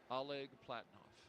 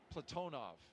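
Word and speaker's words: Oleg Platonov: and Ross Cosmos cosminaut Alleg Platinoff Platonov. I corrected my pronunciation yesterday and I slipped back into crew workout has commenced on schedule.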